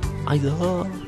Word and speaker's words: Isaac: Isaac! Oh no, it's just pronounced Isaac, but there's two A's in it, so...